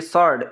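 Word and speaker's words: sword: अच्छा, ये मैंने लाइन नहीं लगाई, तो ये सॉर्ड, वी इसमें, डब्ल्यू इसमें साइलेंट है, इसको सॉर्ड पढ़ा जाता है, तलवार, तो इसमें डब्ल्यू साइलेंट होगा।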